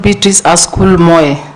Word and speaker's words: Beatrice Askul Moe: out there you are betric asul Moy yes Mr Speaker have I pronounced your name correctly yeah it's called betric asol Mo Mo yes correct welcome once again you